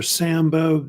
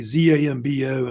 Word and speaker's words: Zambo: You ever heard of Zambo or Sambo? Usually Z-A-M-B-O, I think is how they say it.